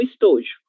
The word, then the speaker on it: estojo: Já, jé, gi, jó, ju. É um som totalmente diferente desse rá, né, que nós vamos utilizar no espanhol, ok? Então, estojo.